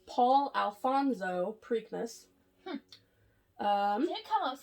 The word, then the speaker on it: Preakness: I think I'm pronouncing that right. Preakness. Preakness. No, I think it's Preak. P-R-E-A-K. Preakness.